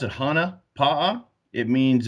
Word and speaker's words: Hana Pa’a: day you pronounce it Hana palm it means it's a Polynesian Hawaiian term but it that means